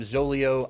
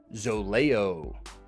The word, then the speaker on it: Zoleo: when I saw this word guys instead of zolio I pronounced it zolayo and so this entire video you're going to hear me saying zolejo now to me it's a little more appealing